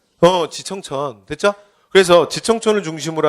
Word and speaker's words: 지청천: 이청천. 이쪽도 누구예요? 그러시면 안 돼요. 누구라고요? 지청천.